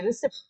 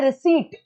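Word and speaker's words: receipt: है किसी चीज की, प्रोनाउंसिएशन गलत है उसकी, वो कह रहा है कि है ना मेरे को तो रसीद चाहिए, रिसिप्ट चाहिए, रिसिप्ट होता है रिसीट।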